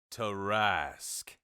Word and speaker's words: Tarrasque: Tarrasque. There you go. So that's how you pronounce it.